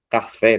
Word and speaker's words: café: Como também outras palavras, gente, olha, atrás, babás, dirá, falarás, café, né, o fé mais forte, pontapé, português, após, avô, paletó, giló, além, alguém, e também, gente.